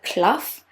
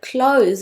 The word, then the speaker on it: clothes: what's cloth and then she pronounced it again and she said clothes and I was like Oh clothes obviously I know that word but why did you pronounce it like cloth and not clothes like it should actually have been pronounced so that just goes